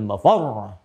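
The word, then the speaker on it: مفر: Fa idza bariqal basar wa khasafa al-qamar wa jumi'a asy-syamsu wal qamar, yaqulul insanu yawma idzin ainal mafar. Mafar ada tasdidnya tuh.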